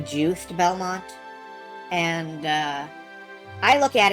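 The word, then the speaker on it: Juste Belmont: Everyone says it's pronounced juiced Belmont. And uh I look at it and I see just Belmont with a silent e or it could be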